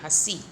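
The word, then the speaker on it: हँसी: अगर चंद्र बिंदु नहीं होता तो बोलते हंसी, लेकिन चंद्र बिंदु है इसलिए इसे बोलेंगे हंसी।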